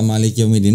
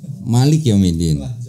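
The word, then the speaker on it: مالك يوم الدين: lah Indonesia I baca Maliki yaumiddin ini gimana Maliki yaumiddin kalau di Maroko bacanya Gimana sama sama beda gimana Enggak maliknya enggak panjang Oh Malik yaumiddin kalau kita Malik yaumiddin ya kan kalau diterjemahin di situ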